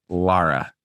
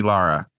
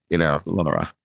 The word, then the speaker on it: Lara: It is, I believe it is pronounced Lara. So next time you go and see Lara, Laura. Give it a Lara, because I call her Laura, and she corrected me on that, and I was